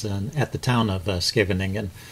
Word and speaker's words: Scheveningen: at the town of Scheveningen, which I guess is pronounced actually Scheveningen, according to Chess Explained, but I'm going to stick with something a little easier to pronounce.